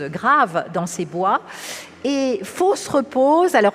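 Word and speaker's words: Fosse-Repose: fo se repose alors c'est un nom curieux ça s'écrit fausses comme faux ce qui n'est pas vrai et repose mais à l'oreille pour nous français on entend fausse la fosse la tombe 1 et repose et il ya quelque chose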